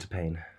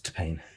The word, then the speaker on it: T-Pain: It's pronounced T-Pain. There's no emphasis on the T. It's T-Pain.